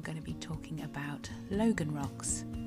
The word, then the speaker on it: Logan: the logan rock now really it should be pronounced logan from the cornish word log which i'm assured means to rock like a drunk person i'm not entirely sure